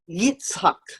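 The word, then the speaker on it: יצחק: The word laugh, or he laughed, right here, is Yitzhak. Very similar to the Arabic word, Itzhak, right? Itzhak. Although we may have pronounced it as Ishak, but it's actually Itzhak. And so the Hebrew is Yitzhak, means he laughed.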